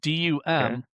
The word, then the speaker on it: dumb: A lot of people don't know that dumb is spelled with a b. So it's it's dum m drop the b.